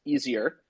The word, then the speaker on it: ETHIER: And so on GitHub, like I'm just telling everyone out there, go to divergencetech/ETHIER, which I'm told is pronounced easier. And yeah, it's easier with the Lisp. Ethier.